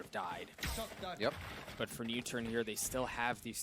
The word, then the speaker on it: NUTURN: died yep but for new turn here they still have these three ultimates in two new turn that's how you pronounce it they want to make